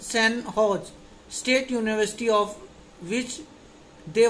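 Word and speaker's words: San Jose: Recently the St. Joe's, pronounced St. Hodge State University, of which they were former student, honored them and installed their statue in the university campus.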